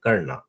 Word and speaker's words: कर्ण: Okay, वैसे कई जगह बेटा इंग्लिश में ए लगा देते हैं, लेकिन अगर आप हिंदी में पढ़ोगे ना, तो वो जो लास्ट वाला ए है उसको शायद प्रोनाउंस नहीं करोगे आप, तो आप कर्ण बोलोगे केवल।